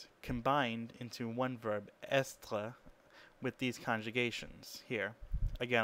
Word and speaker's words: est: So we have je suis, tu es, il est, nous sommes, vous êtes, and ils sont. And you can even see in the third person singular, which is spelled EST, that S is not pronounced, even though it was